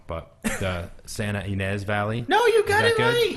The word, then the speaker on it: Santa Ynez: day off to go up to, I'll probably pronounce most of your towns wrong, but the Santa Ynez Valley.